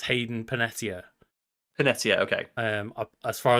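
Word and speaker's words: Hayden Panettiere: prior to that right yes and it's also hadan panary right I hope I'm pronouncing that name correctly that is not how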